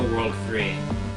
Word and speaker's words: WWW: It's supposed to be pronounced the World 3.